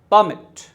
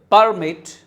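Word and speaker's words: permit: और दूसरा है, अगर आप सेकंड वाले पे स्ट्रेस करोगे तो वो क्रियापद है, जिसका मीनिंग अनुमति देना। ओके, ये इसका प्रोनाउंसिएशन होगा परमिट, ये सॉरी परमिट, और ये परमिट।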